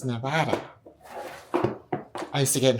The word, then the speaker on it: Nevada: And if you're from England and you come to Nevada and you pronounce it Nevada, you are wrong. It's Nevada.